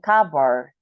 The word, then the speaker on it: cupboard: Rock and cover basically we don't pronounce the the p in kabar okay and right Rock